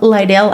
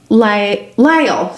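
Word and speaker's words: Lyell: Um on November 15th, Kimberly Logan, a black prostitute from Lidell Avenue area, and that was the Lidell Lyall, sorry, it's spelled weird.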